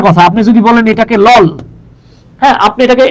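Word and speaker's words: LOL: এ লিখতে হবে কিন্তু আপনি যদি বলেন এল ও এল তখন কিন্তু এটা এন হয়ে যাবে বিষয় হলো গিয়ে এইটা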